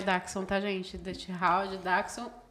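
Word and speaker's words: Dachshund: é d Hound tá e não se fala dch Hound a gente fala de popular sim a pronúncia darxon Ah é darxon É uma um alemão então é daxon tá gente de daxon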